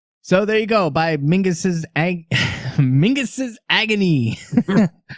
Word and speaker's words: Menzies: oh because it's it it's a Scottish or Gaelic Highland Scottish clan pronounced yeah Mingus rhymes with sing sing is so Mingus so it's not you're